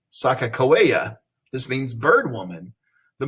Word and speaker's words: Sakakawea: In the Hidatsa Sioux language, her name is Sakakawea.